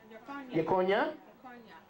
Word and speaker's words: Jeconiah: Yakonia. How does it read in the scriptures? Anybody read that for me? How do you pronounce his name from the scriptures? Yekonia.